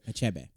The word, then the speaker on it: Achebe: you or whatever but I guess it's a a chumbe a Achebe a chebe okay there you go a c h e